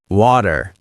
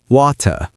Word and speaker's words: water: Americans often pronounce t as a soft d like in water. American water. British water.